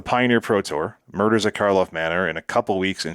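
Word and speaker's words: Karlov Manor: of the earth players scrambling for those fresh Karloff Manor.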